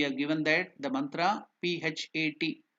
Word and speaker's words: Phat: See, we have given that the mantra P-H-A-T, Phat. The pronunciation exactly. Sanskrit it is written as P and T, half T. So that is Phat, P-H-A-T, Phat. It's not Phat, it is Phat, P-H-A-T, Phat.